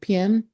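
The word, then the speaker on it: Pak: So p is like sir p a k but the k is silent.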